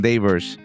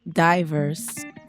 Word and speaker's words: Dayverse: I I kept saying Devers and you were always getting mad at me because I wasn't pronouncing it right. But, is it Devers or Divers? It's Divers or Diana and the Universe and because we keep